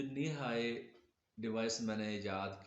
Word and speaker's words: NiHi: तो दोस्तों, मैं जो लोग नए हैं उनके लिए ये जो नी हाई डिवाइस मैंने ईजाद की है, नी हाई स्पेलिंग है NIHI।